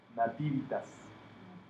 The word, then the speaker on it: Nativitas: Nativitas. Sí, con acento en la primera y Nativitas, ¿verdad?